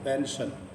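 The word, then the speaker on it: pension: करना विजन पेंशन वजीफा इसे देखिए पेंशन तो एस आई एस के बाद आई और ओ है तो बड़ा श की बात पेंशन पेंशन मतलब वजीफा जो होता है उसे पेंशन कहते हैं।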